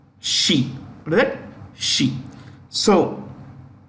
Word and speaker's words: Xi: Xi is pronounced Xi.